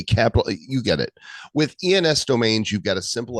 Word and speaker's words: ENS: oh oh Trav it's it's not pronounced Enos it's ens I was just really